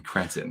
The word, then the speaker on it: cretin: That's the Cretan paradox, isn't it?